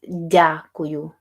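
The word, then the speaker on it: дякую: yes that's how yeah that's not da it's Jau jauu so d y a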